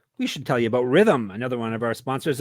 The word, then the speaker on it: Rithmm: And while we're talking about NBA playoffs, we should tell you about Rhythm, another one of our sponsors. It's spelled RITHMM.